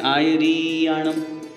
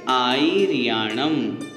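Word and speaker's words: आयरियाणं: शुद्ध उच्चारण करना है हम गलती कहां करते हैं एक तो हम गलती करते हैं आयर आम में आयर आम नहीं आयर आम ई छोटी वाली और री बड़ी कर देते हैं उच्चारण में आय रिण ऐसा गलत हो जाता है हम उसे ठीक करें आई रिण अर्थ हमने सामान्य से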